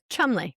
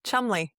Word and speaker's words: Cholmondeley: Um just like today, um they it was the Duke and Duchess of Cholmondeley, which they call Chumley. Chumley, which sounds so much less elegant, but it's certainly more British.